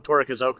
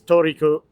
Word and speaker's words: Torikizoku: We always say it wrong. Torikizoku is what we call it, but it's Torikizoku.